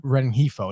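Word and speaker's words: Rengifo: I was trying to pronounce it. Renhefo? Renhefo.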